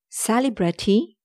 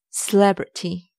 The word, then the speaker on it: celebrity: It's not celebrity, it's celebrity. Celebrity, not celebrity. Celebrity.